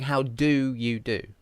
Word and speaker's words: how do you do: i'm not really saying how do you do i'm just saying how duh you do how duh like that how do you you see because it's a weak syllable how do you do